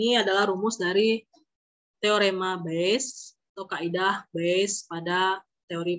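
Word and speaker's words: Bayes: Oke kita lanjut kaidah by tulisannya baines untuk bacanya best kita kejadian-kejadian B1 B2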